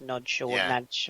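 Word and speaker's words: Nagy: hungar Hungary that's it it's spelled Naggy but I think you're right I think it's pronounced no NAD yeah um so he's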